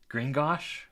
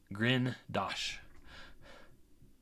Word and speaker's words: Grindosh: I think the part of me is trying to say Gringosh, which is the Dwarven mine or the Goblin mine in Harry Potter. But yes, I am not pronouncing it correct. It is Grindosh.